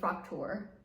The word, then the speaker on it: Fraktur: I heard I'm supposed to say Fraktur.